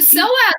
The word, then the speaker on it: psoas: more about that well so the soap muscle um and that's spelled psoas if you want to